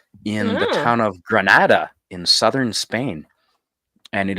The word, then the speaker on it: Granada: It is in Granada, or Grenada, but Granada, I think it's pronounced, Yeah.